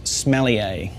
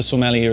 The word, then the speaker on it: sommelier: to say or the second way not to pronounce it is smelly a because the Master Sommelier is the smelly is one of all but